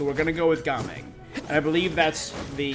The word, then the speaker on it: Gaming: can culture so that the Cantonese pronunciation is gaming not jaming so we're going to go with gaming and I believe that's